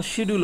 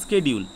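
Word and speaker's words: schedule: কিন্তু দেখো শিডিউল আর এই বানানটা দুটো কিন্তু এক, কিন্তু উচ্চারণ দেখো স্কেডিউল। আমেরিকাতে কী বলে? স্কেডিউল বলে, কিন্তু ব্রিটিশে কী বলে? শিডিউল বলে। একই বানান দেখো দুটোর, কিন্তু উচ্চারণ আলাদা, ঠিক আছে?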